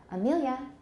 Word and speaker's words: Amelia: And me is the stress syllable.